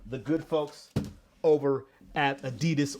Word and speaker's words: adidas: good folks over at adidas or a ddos if you're going to say it correctly I really like this